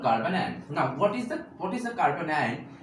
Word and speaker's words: carbanion: Not carboanion. That is actual spelling pronunciation is carbanion.